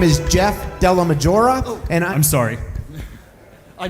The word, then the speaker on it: DellaMaggiora: And we will now have Jeff Delmoria speak. Hello, Gr. Thank you for having me. My name is Jeff Dela Majora and I'm sorry, I mispronounced your name.